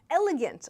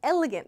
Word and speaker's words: elegant: Elegant. This is a good pronunciation point for many people. Elegant. Elegant. Yeah, elegant. Don't mispronounce. Sometimes people struggle with this and it sounds like arrogant.